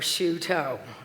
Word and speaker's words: Shuto: Her name is Lynn Shuto. And she told people to pronounce her name like she puts her toes in a shoe, or shoe toe. I'm like, I already like her. Lynn Shuto.